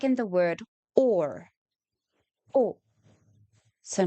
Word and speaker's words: os: O. So not O, but O. The example we have is an ox. But once again, listen to the difference. O, ox. In Afrikaans, we say o, os.